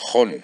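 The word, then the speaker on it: Jon: Es Hon, J-O-N, y Rahm con H intercalada.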